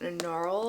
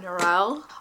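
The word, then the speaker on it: Norrell: Audi book so I know that it is pronounced noral and not nural although I wonder if it's okay to say nurel because I'm American and they are British so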